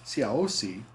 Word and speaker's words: Siaosi: But he became known as Siaosi, or George Tupou I. So he's sometimes referred to as Taufa Ahau Tupou I, or Siaosi, which is the Tongan pronunciation for the English name George.